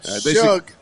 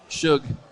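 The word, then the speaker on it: Shough: How do you say his last name again? Suge. Shook. Shook. Shook. Tyler Shook. I said Shuge.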